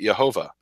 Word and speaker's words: Jehovah: something like that but the J is pronounced as a y in German and so the point